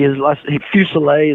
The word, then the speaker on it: Fusilier: Brady Fusilier is how you say his last name, but people butcher that thing all year, at stadiums.